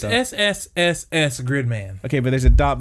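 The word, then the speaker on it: SSSS.Gridman: Now, do you need to pronounce the dot in there? No.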